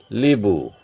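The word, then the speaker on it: hibou: of H mute okay Liu Liu is the owl owl it is starting with h but it is pronounce pronouncing from i h is totally silent or mute this is a Liu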